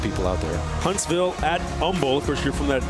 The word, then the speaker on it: Humble: out there Huntsville at Umble of course you're from that Houston area you got to know you don't pronounce that H you got to say Umble but they are trailing